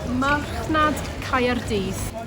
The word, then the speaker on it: Marchnad Caerdydd: Imo, come over here, please, and pronounce that Welsh part that says Cardiff Market. Marchnad Caerdydd.